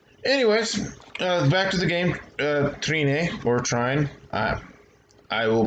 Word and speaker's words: Trine: notes to people ferments pronounce this game as trying it's the ultimate collection however I believe the proper European pronunciation like I said before I think is three-name and it's I believe Latin for three or three people or